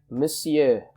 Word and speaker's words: monsieur: your greeting for example monsieur again this is pronounced monsieur okay madame for missus by the way monsieur